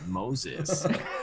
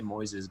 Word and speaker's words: Moises: But everybody else, like, they'd be like, I'm like, yeah, man, you can say Moises, but for white people like you, it's just Moses.